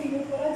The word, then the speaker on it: Ctenophora: ठीक है, तो थर्ड फाइलम क्या है, टीनोफोरा, जिसमें क्या होता है सी साइलेंट होता है, सी साइलेंट होगा। अब देखिए टीनोफोरा टर्म का मतलब क्या होगा।